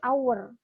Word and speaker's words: hour: Maka jadi dia tulisannya H sih benar, tapi kan dia bacanya bukan hour kan, tapi hour, bunyinya itu kayak A, vokal, maka dia harus jadi N.